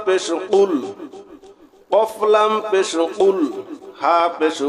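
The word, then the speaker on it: قُلْ: গলার ভিতর থেকে কফ গলার ভিতর থেকে উচ্চারণ হবে একটা হলো কফ আরেকটা আছে কাফ এখানে আমরা যদি সঠিক উচ্চারণ করি কুলহু আল্লাহু আহাদ তাহলে সঠিক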